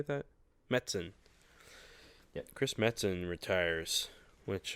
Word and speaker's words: Metzen: Metzen.